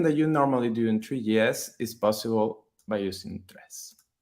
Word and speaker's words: Tres: It's the Spanish word for three, pronounced tres.